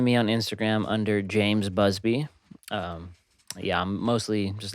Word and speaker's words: Busbea: is james busby b-u-s-b-e-a micah pronounced it as bubasa for some reason bubesa it's busby that's his actor named you